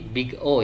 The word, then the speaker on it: big O: Selanjutnya ini kita akan sedikit mengulas tentang apa itu notasi big O ya. Ini dibacanya adalah big o ya atau O besar.